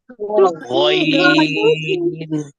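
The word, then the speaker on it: غين: এরপরে ওই দেখি ওই নাকি গাইন? গাইন বলা যাবে? হ্যাঁ, ওইন। তারপরে গাগিগু নাকি গগিগু? গগিগু। হ্যাঁ, মাশাআল্লাহ, গগিগু। গাগিগু না, গগিগু। গইন।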